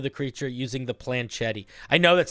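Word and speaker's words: planchette: accompanied by a small planet oh for folks that don't know how to pronounce this word correctly it's planchet it it's accompanied by a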